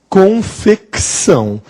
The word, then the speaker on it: Confecção: Confecção. Este C é mudo? Não, este C, ele é sonoro.